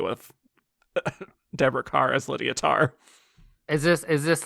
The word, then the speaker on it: Tár: Oscar yep existential Rock tar rhymes with star if debah Carr had